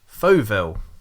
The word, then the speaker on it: Fauxville: DK Pike on the podcast tonight, and we're here to promote his book, Fauxville. Is that the correct pronunciation of the book?